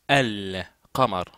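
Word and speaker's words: القمر: kamamar en langue arabe le Selam qui est dans alqar se prononce al Kamar d'ailleurs en effet ce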